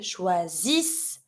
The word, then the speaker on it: choisissent: And the last one, they choose, ENT ending. I had my double S just in front. Ils choisissent, elles choisissent. ENT always mute, and I pronounce my double S like an S sound.